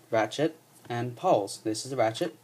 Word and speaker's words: pawl: are called ratchet and poles. This is a ratchet. That's the pole. It's spelled P A W L.